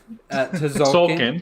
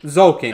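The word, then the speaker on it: Tzolk'in: Tazolkin. Sulkin. Zolkin. I I think that think you was don't pronounce the Smolkin.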